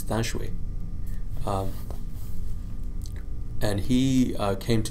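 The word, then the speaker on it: Than Shwe: General eventually emerged and his name is Thon shui or as in pronouncing Burmese dashui um and he came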